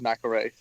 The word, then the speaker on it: McElrea: know why who knows maybe just my family always pronounced it wrong all these years no it's just stuck like that but my family is known as McElroy and your family names knows McElroy right you would know